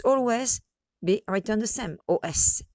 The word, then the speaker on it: os: be written the same, os. And here you heard os. Some people do not pronounce the S and they say des os. It's better to pronounce the S, I guess, in this case, because they might confuse